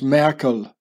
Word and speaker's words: Markle: newspapers in Switzerland and Markle the name is being pronounced as Merkel you know like the uh the German presidents the bundes counselor and Michael is here